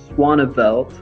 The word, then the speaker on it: Swanabelt: It's pronounced Swanabelt, and so I put the swan here to help you remember how to say it right.